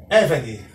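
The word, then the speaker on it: עבד: Vamos pronunciar agora o primeiro vocábulo, évede. Évede, pois a sílaba tônica está no ai e no segol, que constitui a segunda sílaba.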